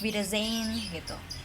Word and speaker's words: Wiedersehen: Tapi kalau misalkan ketemu nih di depan muka nih orangnya, itu pakainya Auf Wiedersehen gitu. Oke? Tulisannya gini. Cara bacanya Wiedersehen gitu. Auf Wiedersehen gitu. Auf Wiedersehen gitu. Agak-agak Z gitu ya, kayak Auf Wiedersehen gitu.